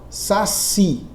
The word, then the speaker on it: saci: Se eu tenho, por exemplo, a palavra, vou colocar aqui a palavra saci, né? Colocar aqui a palavra saci. Na palavra saci, a sílaba tônica é o si. A sílaba tônica é a última.